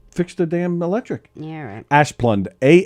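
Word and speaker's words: Asplundh: the damn electric yeah ash plund a s p l d yeah that's the truck in front of her that's the that's the company so it's i think i'm pretty sure it's pronounced asplund nothing good's gonna come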